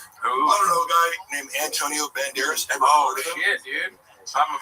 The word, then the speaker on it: Banderas: Antonio Banderas. He would, let's drop a syllable. Banderos. Banderas is good.